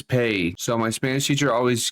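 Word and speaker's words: pe: In Spanish, J is pronounced as Jota, and P is pronounced as Pay.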